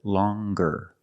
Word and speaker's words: longer: then you have longer where we have the hard G sound longer with a nasal sound plus the hard G longer and we have the